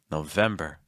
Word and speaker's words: November: November November really quick how do you say m M hold that M sound if you find that you're doing M that's a sign that you're shifting your placement really high and that can cause your word to sound pretty tense and also blocks some error but it's November November trying to keep everything